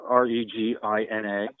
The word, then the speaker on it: Regina: Her name is spelled R-E-G-I-N-A. You know, assume that it's vagina, like in Canada, like Regina.